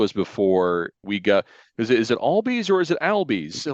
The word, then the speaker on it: Albies: It's like, it's actually Albies. I'm like, oh goodness gracious! So I said one of our top prospects name wrong for several weeks.